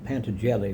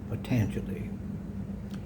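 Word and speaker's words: Patanjali: His name was it looks like pan jelly but it's actually pronounced patangi.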